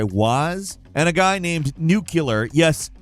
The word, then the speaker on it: Nucular: Previously, that record was held by Waz and a guy named Nuclear. Yes, Nuclear. That's how it has to be spelled for the pronunciation to be nuclear, everyone.